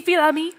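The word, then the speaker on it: Fils-Aimé: Reggie Fils-Aimi.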